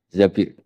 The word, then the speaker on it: Zabir: Abdurrahman Bin Zabir di di hadis ini bukan bacanya bukan Zubair tapi Zabir Abdurrahman Bin Zabir tapi